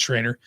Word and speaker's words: Schrader: And her name is Keena Schroeder or Schrader. I'm not sure. I think it's Schrader. I pronounce it Schrader because Mrs. Schrader was my music teacher, not my dancing teacher. Because again, I'm terrible at dancing, which ties into our topic today. But that's how we pronounce her name, was Mrs. Schrader, and Keena's name is spelled the same.